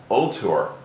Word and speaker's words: Ultor: stock or EOD actually the name isn't really volor believe it or not everybody I'm sure calls it that but the real pronunciation is ultor and that is from Latin meaning Avenger and